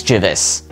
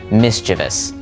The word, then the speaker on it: mischievous: how you should be saying it is Miss mischievous I'll say it again mischievous think of it like the word mischief it's the same root so Mischief mischievous right time for word number eight jewelry or